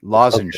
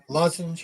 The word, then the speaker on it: lozenge: Lozenge. Okay. Lozenge. Like throat lozenge.